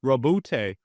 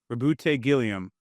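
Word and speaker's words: Roboute Guilliman: Rabbout Gileiam. People say I say this name wrong. How am I saying that wrong? Rabute. Rabbute. Rabbute. Gilliam. That's how you say it, man.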